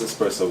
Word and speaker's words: espresso: give me three more definitely it's espresso bs there's no x and express it all